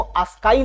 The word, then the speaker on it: ASCII: दक्षिणी भारत में जाएंगे तो इसको आस्काई ना बोलकर इसको आस्की बोलेंगे। आस्की कोड तो कोई दिक्कत नहीं है, प्रोनाउंसिएशन का इधर उधर होता है क्षेत्रीय लैंग्वेज के आधार पर, उसको छोड़ दीजिए। ASCII होता है आस्काई कोड या आस्की कोड।